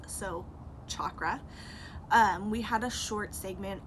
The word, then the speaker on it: chakra: I've gone my whole life saying chakra, and that's not the correct pronunciation. It's actually a hard CH at the beginning, like Charles, so chakra.